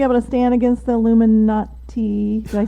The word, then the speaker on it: Illuminati: Is he going to be able to stand against the Illuminati?